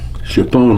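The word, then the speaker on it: Tschepone: they were worshipping this it might not show chapon laos is right here and it's spelled t-s-c-h-e-p-o-n-e and i was down in this thing after see uh i had flown the mission against chipone laos when i was here at cameron bay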